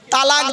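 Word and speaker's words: طلاق: গিয়ে স্বামী তার স্ত্রীকে তালাক দেয় তাই না আরে ভাই বলুন না শব্দটা কিন্তু তালাক নয় শব্দটা তালাক বলবেন না কেউ শব্দটা হলো তলাক কি বললাম তলাক ওর আরবি উচ্চারণ কি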